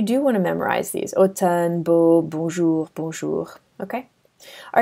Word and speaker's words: automne: So the first one is MN, and that's pronounced N, just like Nancy. And the word that we're going to find it in is automne, which means autumn.